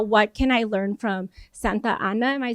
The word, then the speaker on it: Santa Ana: And so now I'm like, wow, what can I learn from Santa Ana? Am I saying it right? Santana.